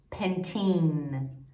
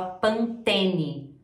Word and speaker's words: Pantene: A marca de shampoo, em inglês ela tem uma pronúncia totalmente diferente. Pantene. A gente fala Pantene. Colgate.